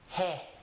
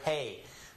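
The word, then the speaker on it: ge: The closest thing I can find to it in English is the word hey. But that's not correct. But it's pretty close. The correct pronunciation of the name of this letter is he. He. It's short and fast with an E sound, and the first sound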